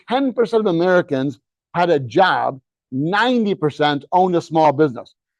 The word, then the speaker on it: Job: and by the way in the Bible it's pronounced job whole another story next everything is changing to